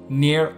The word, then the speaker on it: NieR: best stories this generation near automata and yes I'm going to continue with this pronunciation since that's how the director says it and I'm too stubborn to change nomata was released March